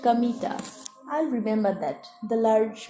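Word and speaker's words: Kamita: field God's field but it wasn't pronounced Kanda as you might expect it's pronounced chemita I remember that the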